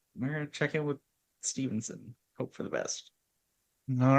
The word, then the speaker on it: Steveson: That's how I recall hearing it in the Olympics was Stevenson without an N. Stevenson. So it is Stevenson without an N.